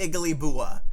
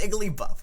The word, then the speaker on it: Igglybuff: iggly yeah it is igly bua oh okay wow okay no no it's igly buff we're learning about igly buff that's how they pronounce